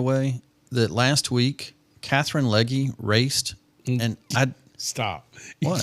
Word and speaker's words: Legge: I'm really excited, by the way, that last week Catherine Legge raced, and I stop. What? You can't say Catherine Legge. What is she? It's Catherine Legg. You can't put the E on It's spelled L.